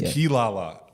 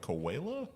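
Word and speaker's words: Quilala: Yes, it's Kilala.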